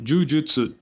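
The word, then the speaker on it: 呪術: Porque o Jujutsu do Jiu-Jitsu, né? O Ju, ele é prolongado, né? Uhum. No caso de Jujutsu Kaisen, não, é Jujutsu e na verdade significa, eu acho que é feiticeiro, né, feitiçaria, alguma coisa nesse sentido.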